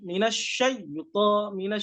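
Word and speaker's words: من الشيطان: Ini ketika posisinya huruf ta. Posisinya huruf ta itu seperti ini. Ketika mengucap itu naik. Pangkal lidahnya itu naik. Pangkal lidahnya itu naik. Jadi dia sifatnya tebal. Gimana cara pengucapannya? Minasyaiton, minasyaiton, minasyaiton, nirrajim.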